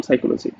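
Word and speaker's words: psychology: শুধুমাত্র এটার বানান ছাড়া আসলে দেখো আমি লিখলাম পি দিয়ে কিন্তু উচ্চারণ করলাম সাইকোলজি।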